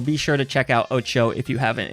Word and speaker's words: OTXO: sure to check out oo if you haven't it's otxo by the way it it's not spelled like it sounds we had the lovely